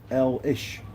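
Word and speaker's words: Alnwick: does take longer obviously L ilish pronounced L ish okay Elish Feldick oh that's a al Elish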